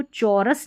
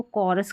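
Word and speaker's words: chorus: तो इन सारे स्पेलिंग्स में देखिए यहां पर इसको चौरस नहीं पढ़ते। इसको कोरस करके पढ़ेंगे। अगर आपको यह नियम नहीं पता होगा तो आप इसको चौरस करके पढ़ देंगे। सी एच को च पढ़ देंगे। नहीं यहां पर जो है इस स्पेलिंग में सी के बाद जो एच आ रहा है किस में? कोरस में। तो यहां पर एच साइलेंट है।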